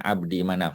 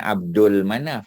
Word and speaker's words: Abdi Manaf: Manaf wahai anak-anak keturunan Abdi Manaf puding ejaan ya Jadi bukan Abdul Manaf tak ada Ade lam dan Abdu Manaf atau Abdi Manaf Coba tengok punya ejaan